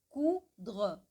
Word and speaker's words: coudre: Aqui, lembra do O mais U, que dá um som de U da língua portuguesa, né? Porque o U sozinho em francês é U, e quando ele tem o som de U é porque tem um O na frente. Então aqui é cu de cu, coudre, coudre, coudre, que significa costurar, tá?